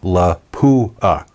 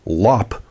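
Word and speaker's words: Lapua: everyone pronounces this as La Pua emphasis on the poo in the middle well how do you actually say it correctly well it's actually Lop the P comes earlier when you pronounce it correctly I have to admit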